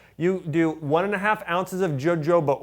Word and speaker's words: jojoba: You do 1.5 ounces of jojoba oil, or jojoba oil as many say, correct pronunciation, grapeseed oil, cedarwood oil, rosemary oil, and sage oil, 30 drops of each of those.